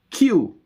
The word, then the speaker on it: queue: Q is Q-U-E-U-E. Like waiting in a line. Q.